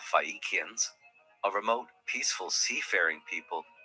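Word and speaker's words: Phaeacians: The people, by the way, are the Fishians. The anglicized pronunciation here of Fikians, a remote, peaceful seafaring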